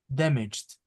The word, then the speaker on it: damaged: This G is pronounced as J. Damaged.